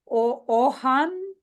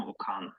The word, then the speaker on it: Okan: I will, Ohan, right? Did I say it right? Or I butchered your name? O-Y, like you. Sorry. Yeah, I'm Okan. My name is Okan.